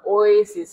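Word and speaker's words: oasis: তো ওয়েসিস কথাটা ও এ, তারপর হচ্ছে এই যে এরকম উচ্চারণটা ওয়েসিস। হ্যাঁ, ও এ সরাসরি ও এসিস।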